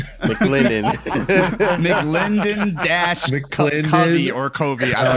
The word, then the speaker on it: McLendon: Not McClovey? No, not McClovey. Not McClovey. McLendon.